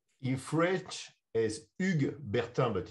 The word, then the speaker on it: Hugues Bertin: french from high school is bjorn rusty so huge burton did i get someone close to pronunciation in french as ugg bertha but it's no it's not pronunciation it's impossible